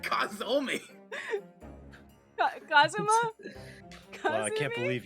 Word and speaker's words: Kazuma: Yeah, it's Kazuma. But Kazuma really, Asogi.